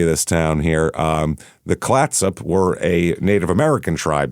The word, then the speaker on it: Clatsop: Clatsop, I believe is how you say that.